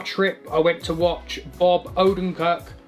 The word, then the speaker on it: Bob Odenkirk: i went to watch bob odenkirk sorry i don't think that's how you pronounce his name bear with me one second it is bob odenko blimey i got a